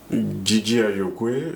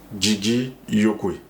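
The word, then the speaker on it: Djidji Ayokwê: Euh alors ce tambour Did Ayok, c'est le nom sur lequel on le connaît mais dans notre langue on le prononce Gigi Yoki.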